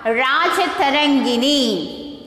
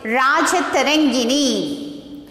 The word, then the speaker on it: Rajatarangini: Rajatarangini. How to pronounce this? Rajatarangini.